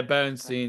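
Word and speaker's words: Beerensteyn: it brings out the best for was it Benstein, did you say? Yeah, Benstein. Yeah, Benstein. Yeah, I always get a bit paranoid when I'm pronouncing names now.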